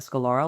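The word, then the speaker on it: scleral: eyes and now I'm able to wear a scalora lens.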